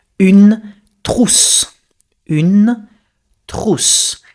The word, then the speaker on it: trousse: Pencil case, you say une trousse. Une trousse. Sounds a little bit like truth, but it's trousse.